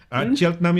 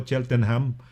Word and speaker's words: Cheltenham: Cheltenham yan pronunciation dito ho, no? Hindi ho Cheltenham. Cheltenham ho yan, no?